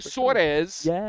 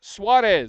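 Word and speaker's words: Suárez: I I've been saying Suarez. It's Suarez.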